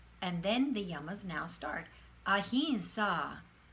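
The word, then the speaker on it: ahimsa: these yama yama then the yamas now start ahinsa ahinsa and satya satya okay are there any questions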